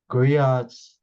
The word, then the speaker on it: griot: with your research there's a griots or Grio however you want to pronounce it usually channel the ancestors